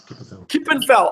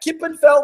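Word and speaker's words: kippenvel: I get Goose pimples how do you say that in Dutch Gip andf what is it Gip andf KIPP and fell I love that Kip and fell when your skin fell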